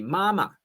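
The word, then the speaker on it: 妈妈: Say for example you call you mom uh naturally standard mandaring is should be mama. Okay mama. But what about if you pronounced you you face your mom and said mama mama is hemp hemp or mama horse.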